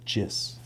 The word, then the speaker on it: GIS: Number 10, get to pronounce GIS as GIS.